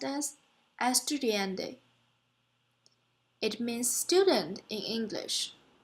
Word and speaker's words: estudiante: the English word architect the other word is pronounced as estudiante it means student in lish the studying latter